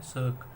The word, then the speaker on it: cirque: पहला है हमारा सर्क, CIRQUE, इसकी प्रोनाउंसिएशन है सर्क।